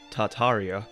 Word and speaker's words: Tartaria: little access to farmland tartaria originally pronounced tataria without the first R is the name of